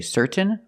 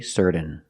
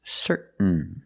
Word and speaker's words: certain: n example certain certain you can say certain or certain but don't say certain it's certain what makes you certain